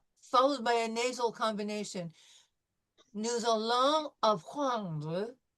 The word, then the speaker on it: nous allons: So we will focus on also too when we have nous followed by a vowel, nous allons, this S will become a Z sound.